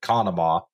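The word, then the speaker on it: Conemaugh: I do want to point out that it's pronounced, as far as I've heard it, Conema. Conema. You actually pronounce it Conema.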